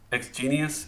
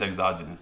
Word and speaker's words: exogenous: more scared i get exogenous yeah that's how i think i'm saying it wrong exogenous is it exogenous i think it's exogenous that's how you say it endogenous and exogenous that's